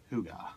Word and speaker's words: hygge: outside and it spelled hyg GE but it's pronounced whoo God right it's a Danish concept centered around the